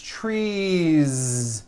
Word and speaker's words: trees: so here we go you've got one tree or two trees it's not tree with an unvoiced s its trees with that voiced ending you see that another